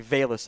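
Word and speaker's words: Velus: on the boards then it's actually Bayless I mispronounced earlier Bayless Jones Jr early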